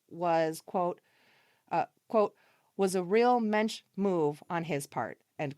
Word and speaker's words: mensch: before the title was, quote, was a real mensch move on his part, end quote. I don't know if I pronounced that word correctly. Mensch? Mensch?